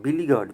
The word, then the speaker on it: beleaguered: देखिए, बड़ा अच्छा शब्द है, वेरी वीवीआई वर्ड है, बिलीगर्ड।